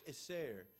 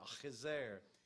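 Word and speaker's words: Akhisar: you can find this place today it is pronounced is there and it's important you give that sound if our you'll offend some folks that's how they say that is there and it's a very large city today it's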